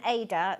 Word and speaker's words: Aida: This is called waste canvas, and it's like an Aida. Is that how you pronounce it? Yeah. An Aida.